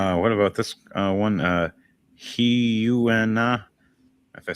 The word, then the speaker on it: Hyuna: Hyuna is actually how you pronounce her name.